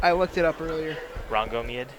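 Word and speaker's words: Rhongomyniad: That's a It's pronounced Rangomeid. Is it really? Did you look it up? I looked it up earlier. Rangomeid. Rangomeid.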